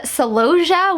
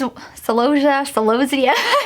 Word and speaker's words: celosia: Now we have celosia, which is celosia, depending on where you live is gonna depend on how you actually pronounce that. I say celosia.